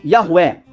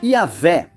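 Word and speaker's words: Yahweh: e em outras bíblias como Yahué, que é possivelmente a forma correta de pronunciá-lo. Embora na verdade a forma correta de pronunciá-lo tenha-se perdido. Simplesmente não tinha vogais e eles não pronunciavam o nome do Senhor. Então, não sabemos exatamente como soava.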